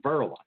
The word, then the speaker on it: Verlin: from my dad, and it's spelled with a V, not an M, and I'm called Verlin.